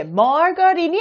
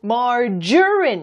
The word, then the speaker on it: margarine: 네, margarine이 아니고 margarine 이렇게 G가 G 발음이 아니라요. J 발음이 납니다.